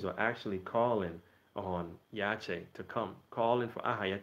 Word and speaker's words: Yache: all in simplicity, is Y-A-C-H-E, to get the proper pronunciation, Yache.